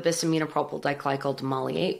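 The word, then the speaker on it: Bis-Aminopropyl Diglycol Dimaleate: Everyone bisaminopropyl diglycol demulcate.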